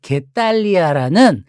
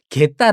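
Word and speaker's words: Getaria: 그래서 스페인의 발렌시아가가 태어난 바스크의 게탈리아라는 작은 게딸 아닙니다. 게탈리아라는 게탈리아. 이것도 이거 발음하다 보니까 이것도 누가 시비 걸 것 같아. 게탈리아입니다. 게탈리아.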